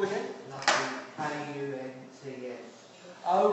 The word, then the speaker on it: Kant: I didn't want to tell everyone, but Kant's name in German is pronounced Kunt.